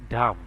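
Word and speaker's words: dumb: ডি ইউ এম বি, ডাম। তো এখানে আপনি দেখেন এখানে বির উচ্চারণটা না আসে ডি ইউ এম হচ্ছে, অর্থাৎ এটার উচ্চারণ ডাম হচ্ছে, বির উচ্চারণটা এখানে সাইলেন্ট থাকলো।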